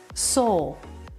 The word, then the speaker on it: sole: Sole. This part of the shoe is the sole, and it's a homophone with the word S-O-U-L. They sound exactly the same.